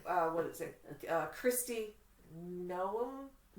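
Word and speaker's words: Noem: Gnome. Gnome. N O E M is how it's spelled. If I mispronounced your name, forgive me. I think it's gnome because if you put a G in front of it, it's a gnome.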